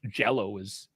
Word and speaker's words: Djalo: I was just gonna go with like Yellow because Djalo is. It's almost the same pronunciation.